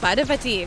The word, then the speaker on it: Parvati: It is a little annoying that no one says Parvati, which is how you say that name.